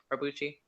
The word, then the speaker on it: Barbucci: I think you have to pronounce his name, Barbucci.